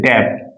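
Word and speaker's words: debt: डेप इस word में B silent है।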